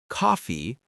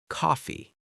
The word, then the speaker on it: coffee: And pronunciation tip for coffee, don't say coffee, it's coffee with a short O sound. Try saying it coffee.